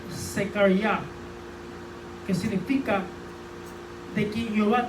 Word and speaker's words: Zechariah: que el nombre Zacarías, que si usted lo busca en el original hebreo, se pronuncia Zechariah, que significa de quien